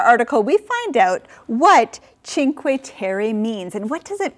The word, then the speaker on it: Cinque Terre: we continue our article we find out what cinque terry means and what does it mean gabe yeah the five lands in fact when i saw the title i thought it was pronounced cinqua tere because when i was learning spanish that ci